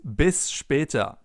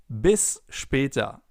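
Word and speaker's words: bis später: It is bispa.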